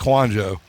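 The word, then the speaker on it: Kouandjio: I believe that's how it's pronounced. It's Kwanjo.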